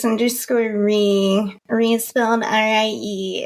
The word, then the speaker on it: Rie: yeah sameul it's justor re reell Rie it's always fun to hear people pronounce my name for the first time I get a lot of rise and Rays but it's R and uh I won't